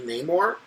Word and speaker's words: Namor: more yes I'm sorry I'm going to be pushing this pronunciation I don't know I don't care if the rest of the characters pronounce it anymore it's no more to me mostly because like it makes more sense for the MCU version to be no more while the comic be Namor because the more in